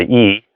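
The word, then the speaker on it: 意: is it begins with the e or the intent which just spelled with the i the E so they say the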